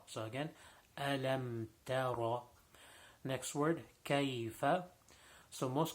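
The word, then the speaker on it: ألم تر: So ta ra, ta is not full mouth, so it should not be pronounced tara. It should be tara. So again, alam tara.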